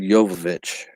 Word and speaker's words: Jovovich: j i've always heard jovovich like the j is pronounced like a y but like in spanish